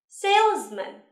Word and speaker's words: salesman: Chú ý âm z ở giữa từ nhé. Salesman.